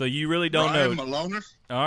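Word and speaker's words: Milonas: Black, Beer City Bruiser, Brian Malonis is how you say that.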